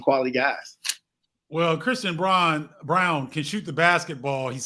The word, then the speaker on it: Braun: grizzlies uh select christian brawn uh brown excuse me it's spelled braun it's pronounced brown uh from kansas what